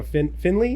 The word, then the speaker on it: Findlay: yeah they were great I interviewed you know Finley is that how you say it yeah Findlay